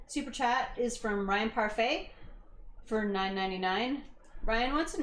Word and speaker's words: parfait: inspire us and mayor you were right it's pronounced parfait but i'm sweeter oh